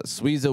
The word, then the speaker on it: Suiza: me in Eastside phob will lead Suiza uh sweeza will be inspired by Sam San Francisco's Mexican-American